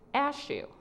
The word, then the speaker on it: Ashu: my name it is Ashu it is pronounced like and it rhymes with cashew and I never forgot